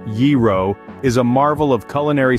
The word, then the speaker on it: gyro: and discover its Secrets a gyro sandwich pronounced yiro is a Marvel of